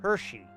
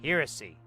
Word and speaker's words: heresy: And sometimes they have like some form of dyslexia where they pronounce heresy Hershey. They think there's like another H in there somewhere. And I'm like, dude, there's one H. It's heresy.